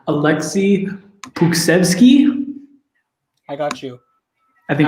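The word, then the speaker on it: Pokuševski: I think Alexei Puksevsky is how you pronounce that. It's Alexei Pokusevsky. That's what it's pronounced.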